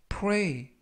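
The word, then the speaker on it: pray: 표현이 되겠습니다 이번 표현은 4a 4a 프레이 라고 발음 하시면 되겠고요 유의하실 점은 플레이가 아니라 프로의 품사는 동사 뜻은 기도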